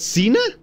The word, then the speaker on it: Xena: how it going Cena it's that's how you pronounce it Cena okay I didn't know that push a catapult